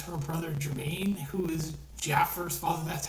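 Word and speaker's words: Jaafar: of this because her brother Jermaine, who is Jaffar's father, that's how he pronounces. I know most people say Jafar, but it's really Jermaine.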